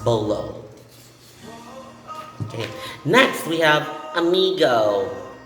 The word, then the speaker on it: bolo: if it's a spanish origin okay and it's pronounced bolo okay next we have amigo amigo in our